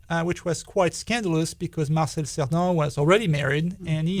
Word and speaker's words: Marcel Cerdan: Yes, that's how you pronounce it, Marcel Cerdan.